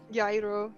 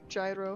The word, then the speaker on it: gyro: budas is probably it's it's probably a yro gyro however you want to pronounce it with um technically it's yo yo yes yes that uh